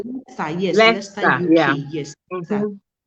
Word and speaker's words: Leicester: Finance from the University of how do you pronounce that one? Leicester, Leicester, yes, Leicester, Leicester.